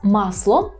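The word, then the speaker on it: masło: Так це у нас масло пам'ятаємо щоб вимовляти ми маємо губний звук у нас о кілька разів промов те щоб не звучали помилкові варіанти масло а до речі пам'ятаєте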